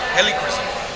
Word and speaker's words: Helichrysum: And that, pronounce it again. It's Helichrysum. Helichrysum.